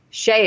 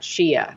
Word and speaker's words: Shia: her name, Shia Diamond, pronounced her name Shea and not Shia, which I think I'm getting that right, but we have this clip too.